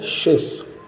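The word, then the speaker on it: Tschüss: सातवां लफ्ज़ है शिस। टी इसमें साइलेंट होगा।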